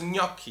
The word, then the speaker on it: gnocchi: a lineano okay so the same way you write gnocchi you pronounce gnocchi in the Italian language this is a girl and this is an it's a kind of N and together it's not